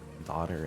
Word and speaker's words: daughter: and that reminded me lots of words where the gh is silent which is uh daughter and wow apparently used